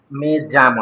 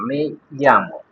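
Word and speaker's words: me llamo: এই যে, এখানে এখানে আমার জি, উচ্চারণটা কি মেয়ামো নাকি মেজামো? মেজামো না, মেয়ামো।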